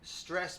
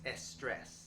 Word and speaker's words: stress: For example, stress becomes estress, strange becomes estrange, grey becomes girey, and grand becomes giran.